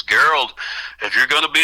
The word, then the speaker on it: Gerald: It's like Gerald, only it's pronounced Gerald, g e r a l d.